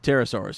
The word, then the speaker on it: pterosaurs: it helped try yeah there's a pea in front of that that word the dinosaur you're not supposed to pronounce that the chair Patera soars yeah terrorist pterosaurs yeah yeah and two in